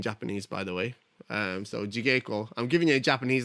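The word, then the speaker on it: 地稽古: But there's no soft G's in Japanese. If you use G in Japanese, it's always a hard G.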